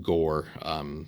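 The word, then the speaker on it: Ghoere: for example like uh this country here is actually pronounced gore so this one beau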